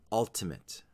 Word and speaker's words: ultimate: have the word ultimate ultimate with the stress on the first syllable now that we've seen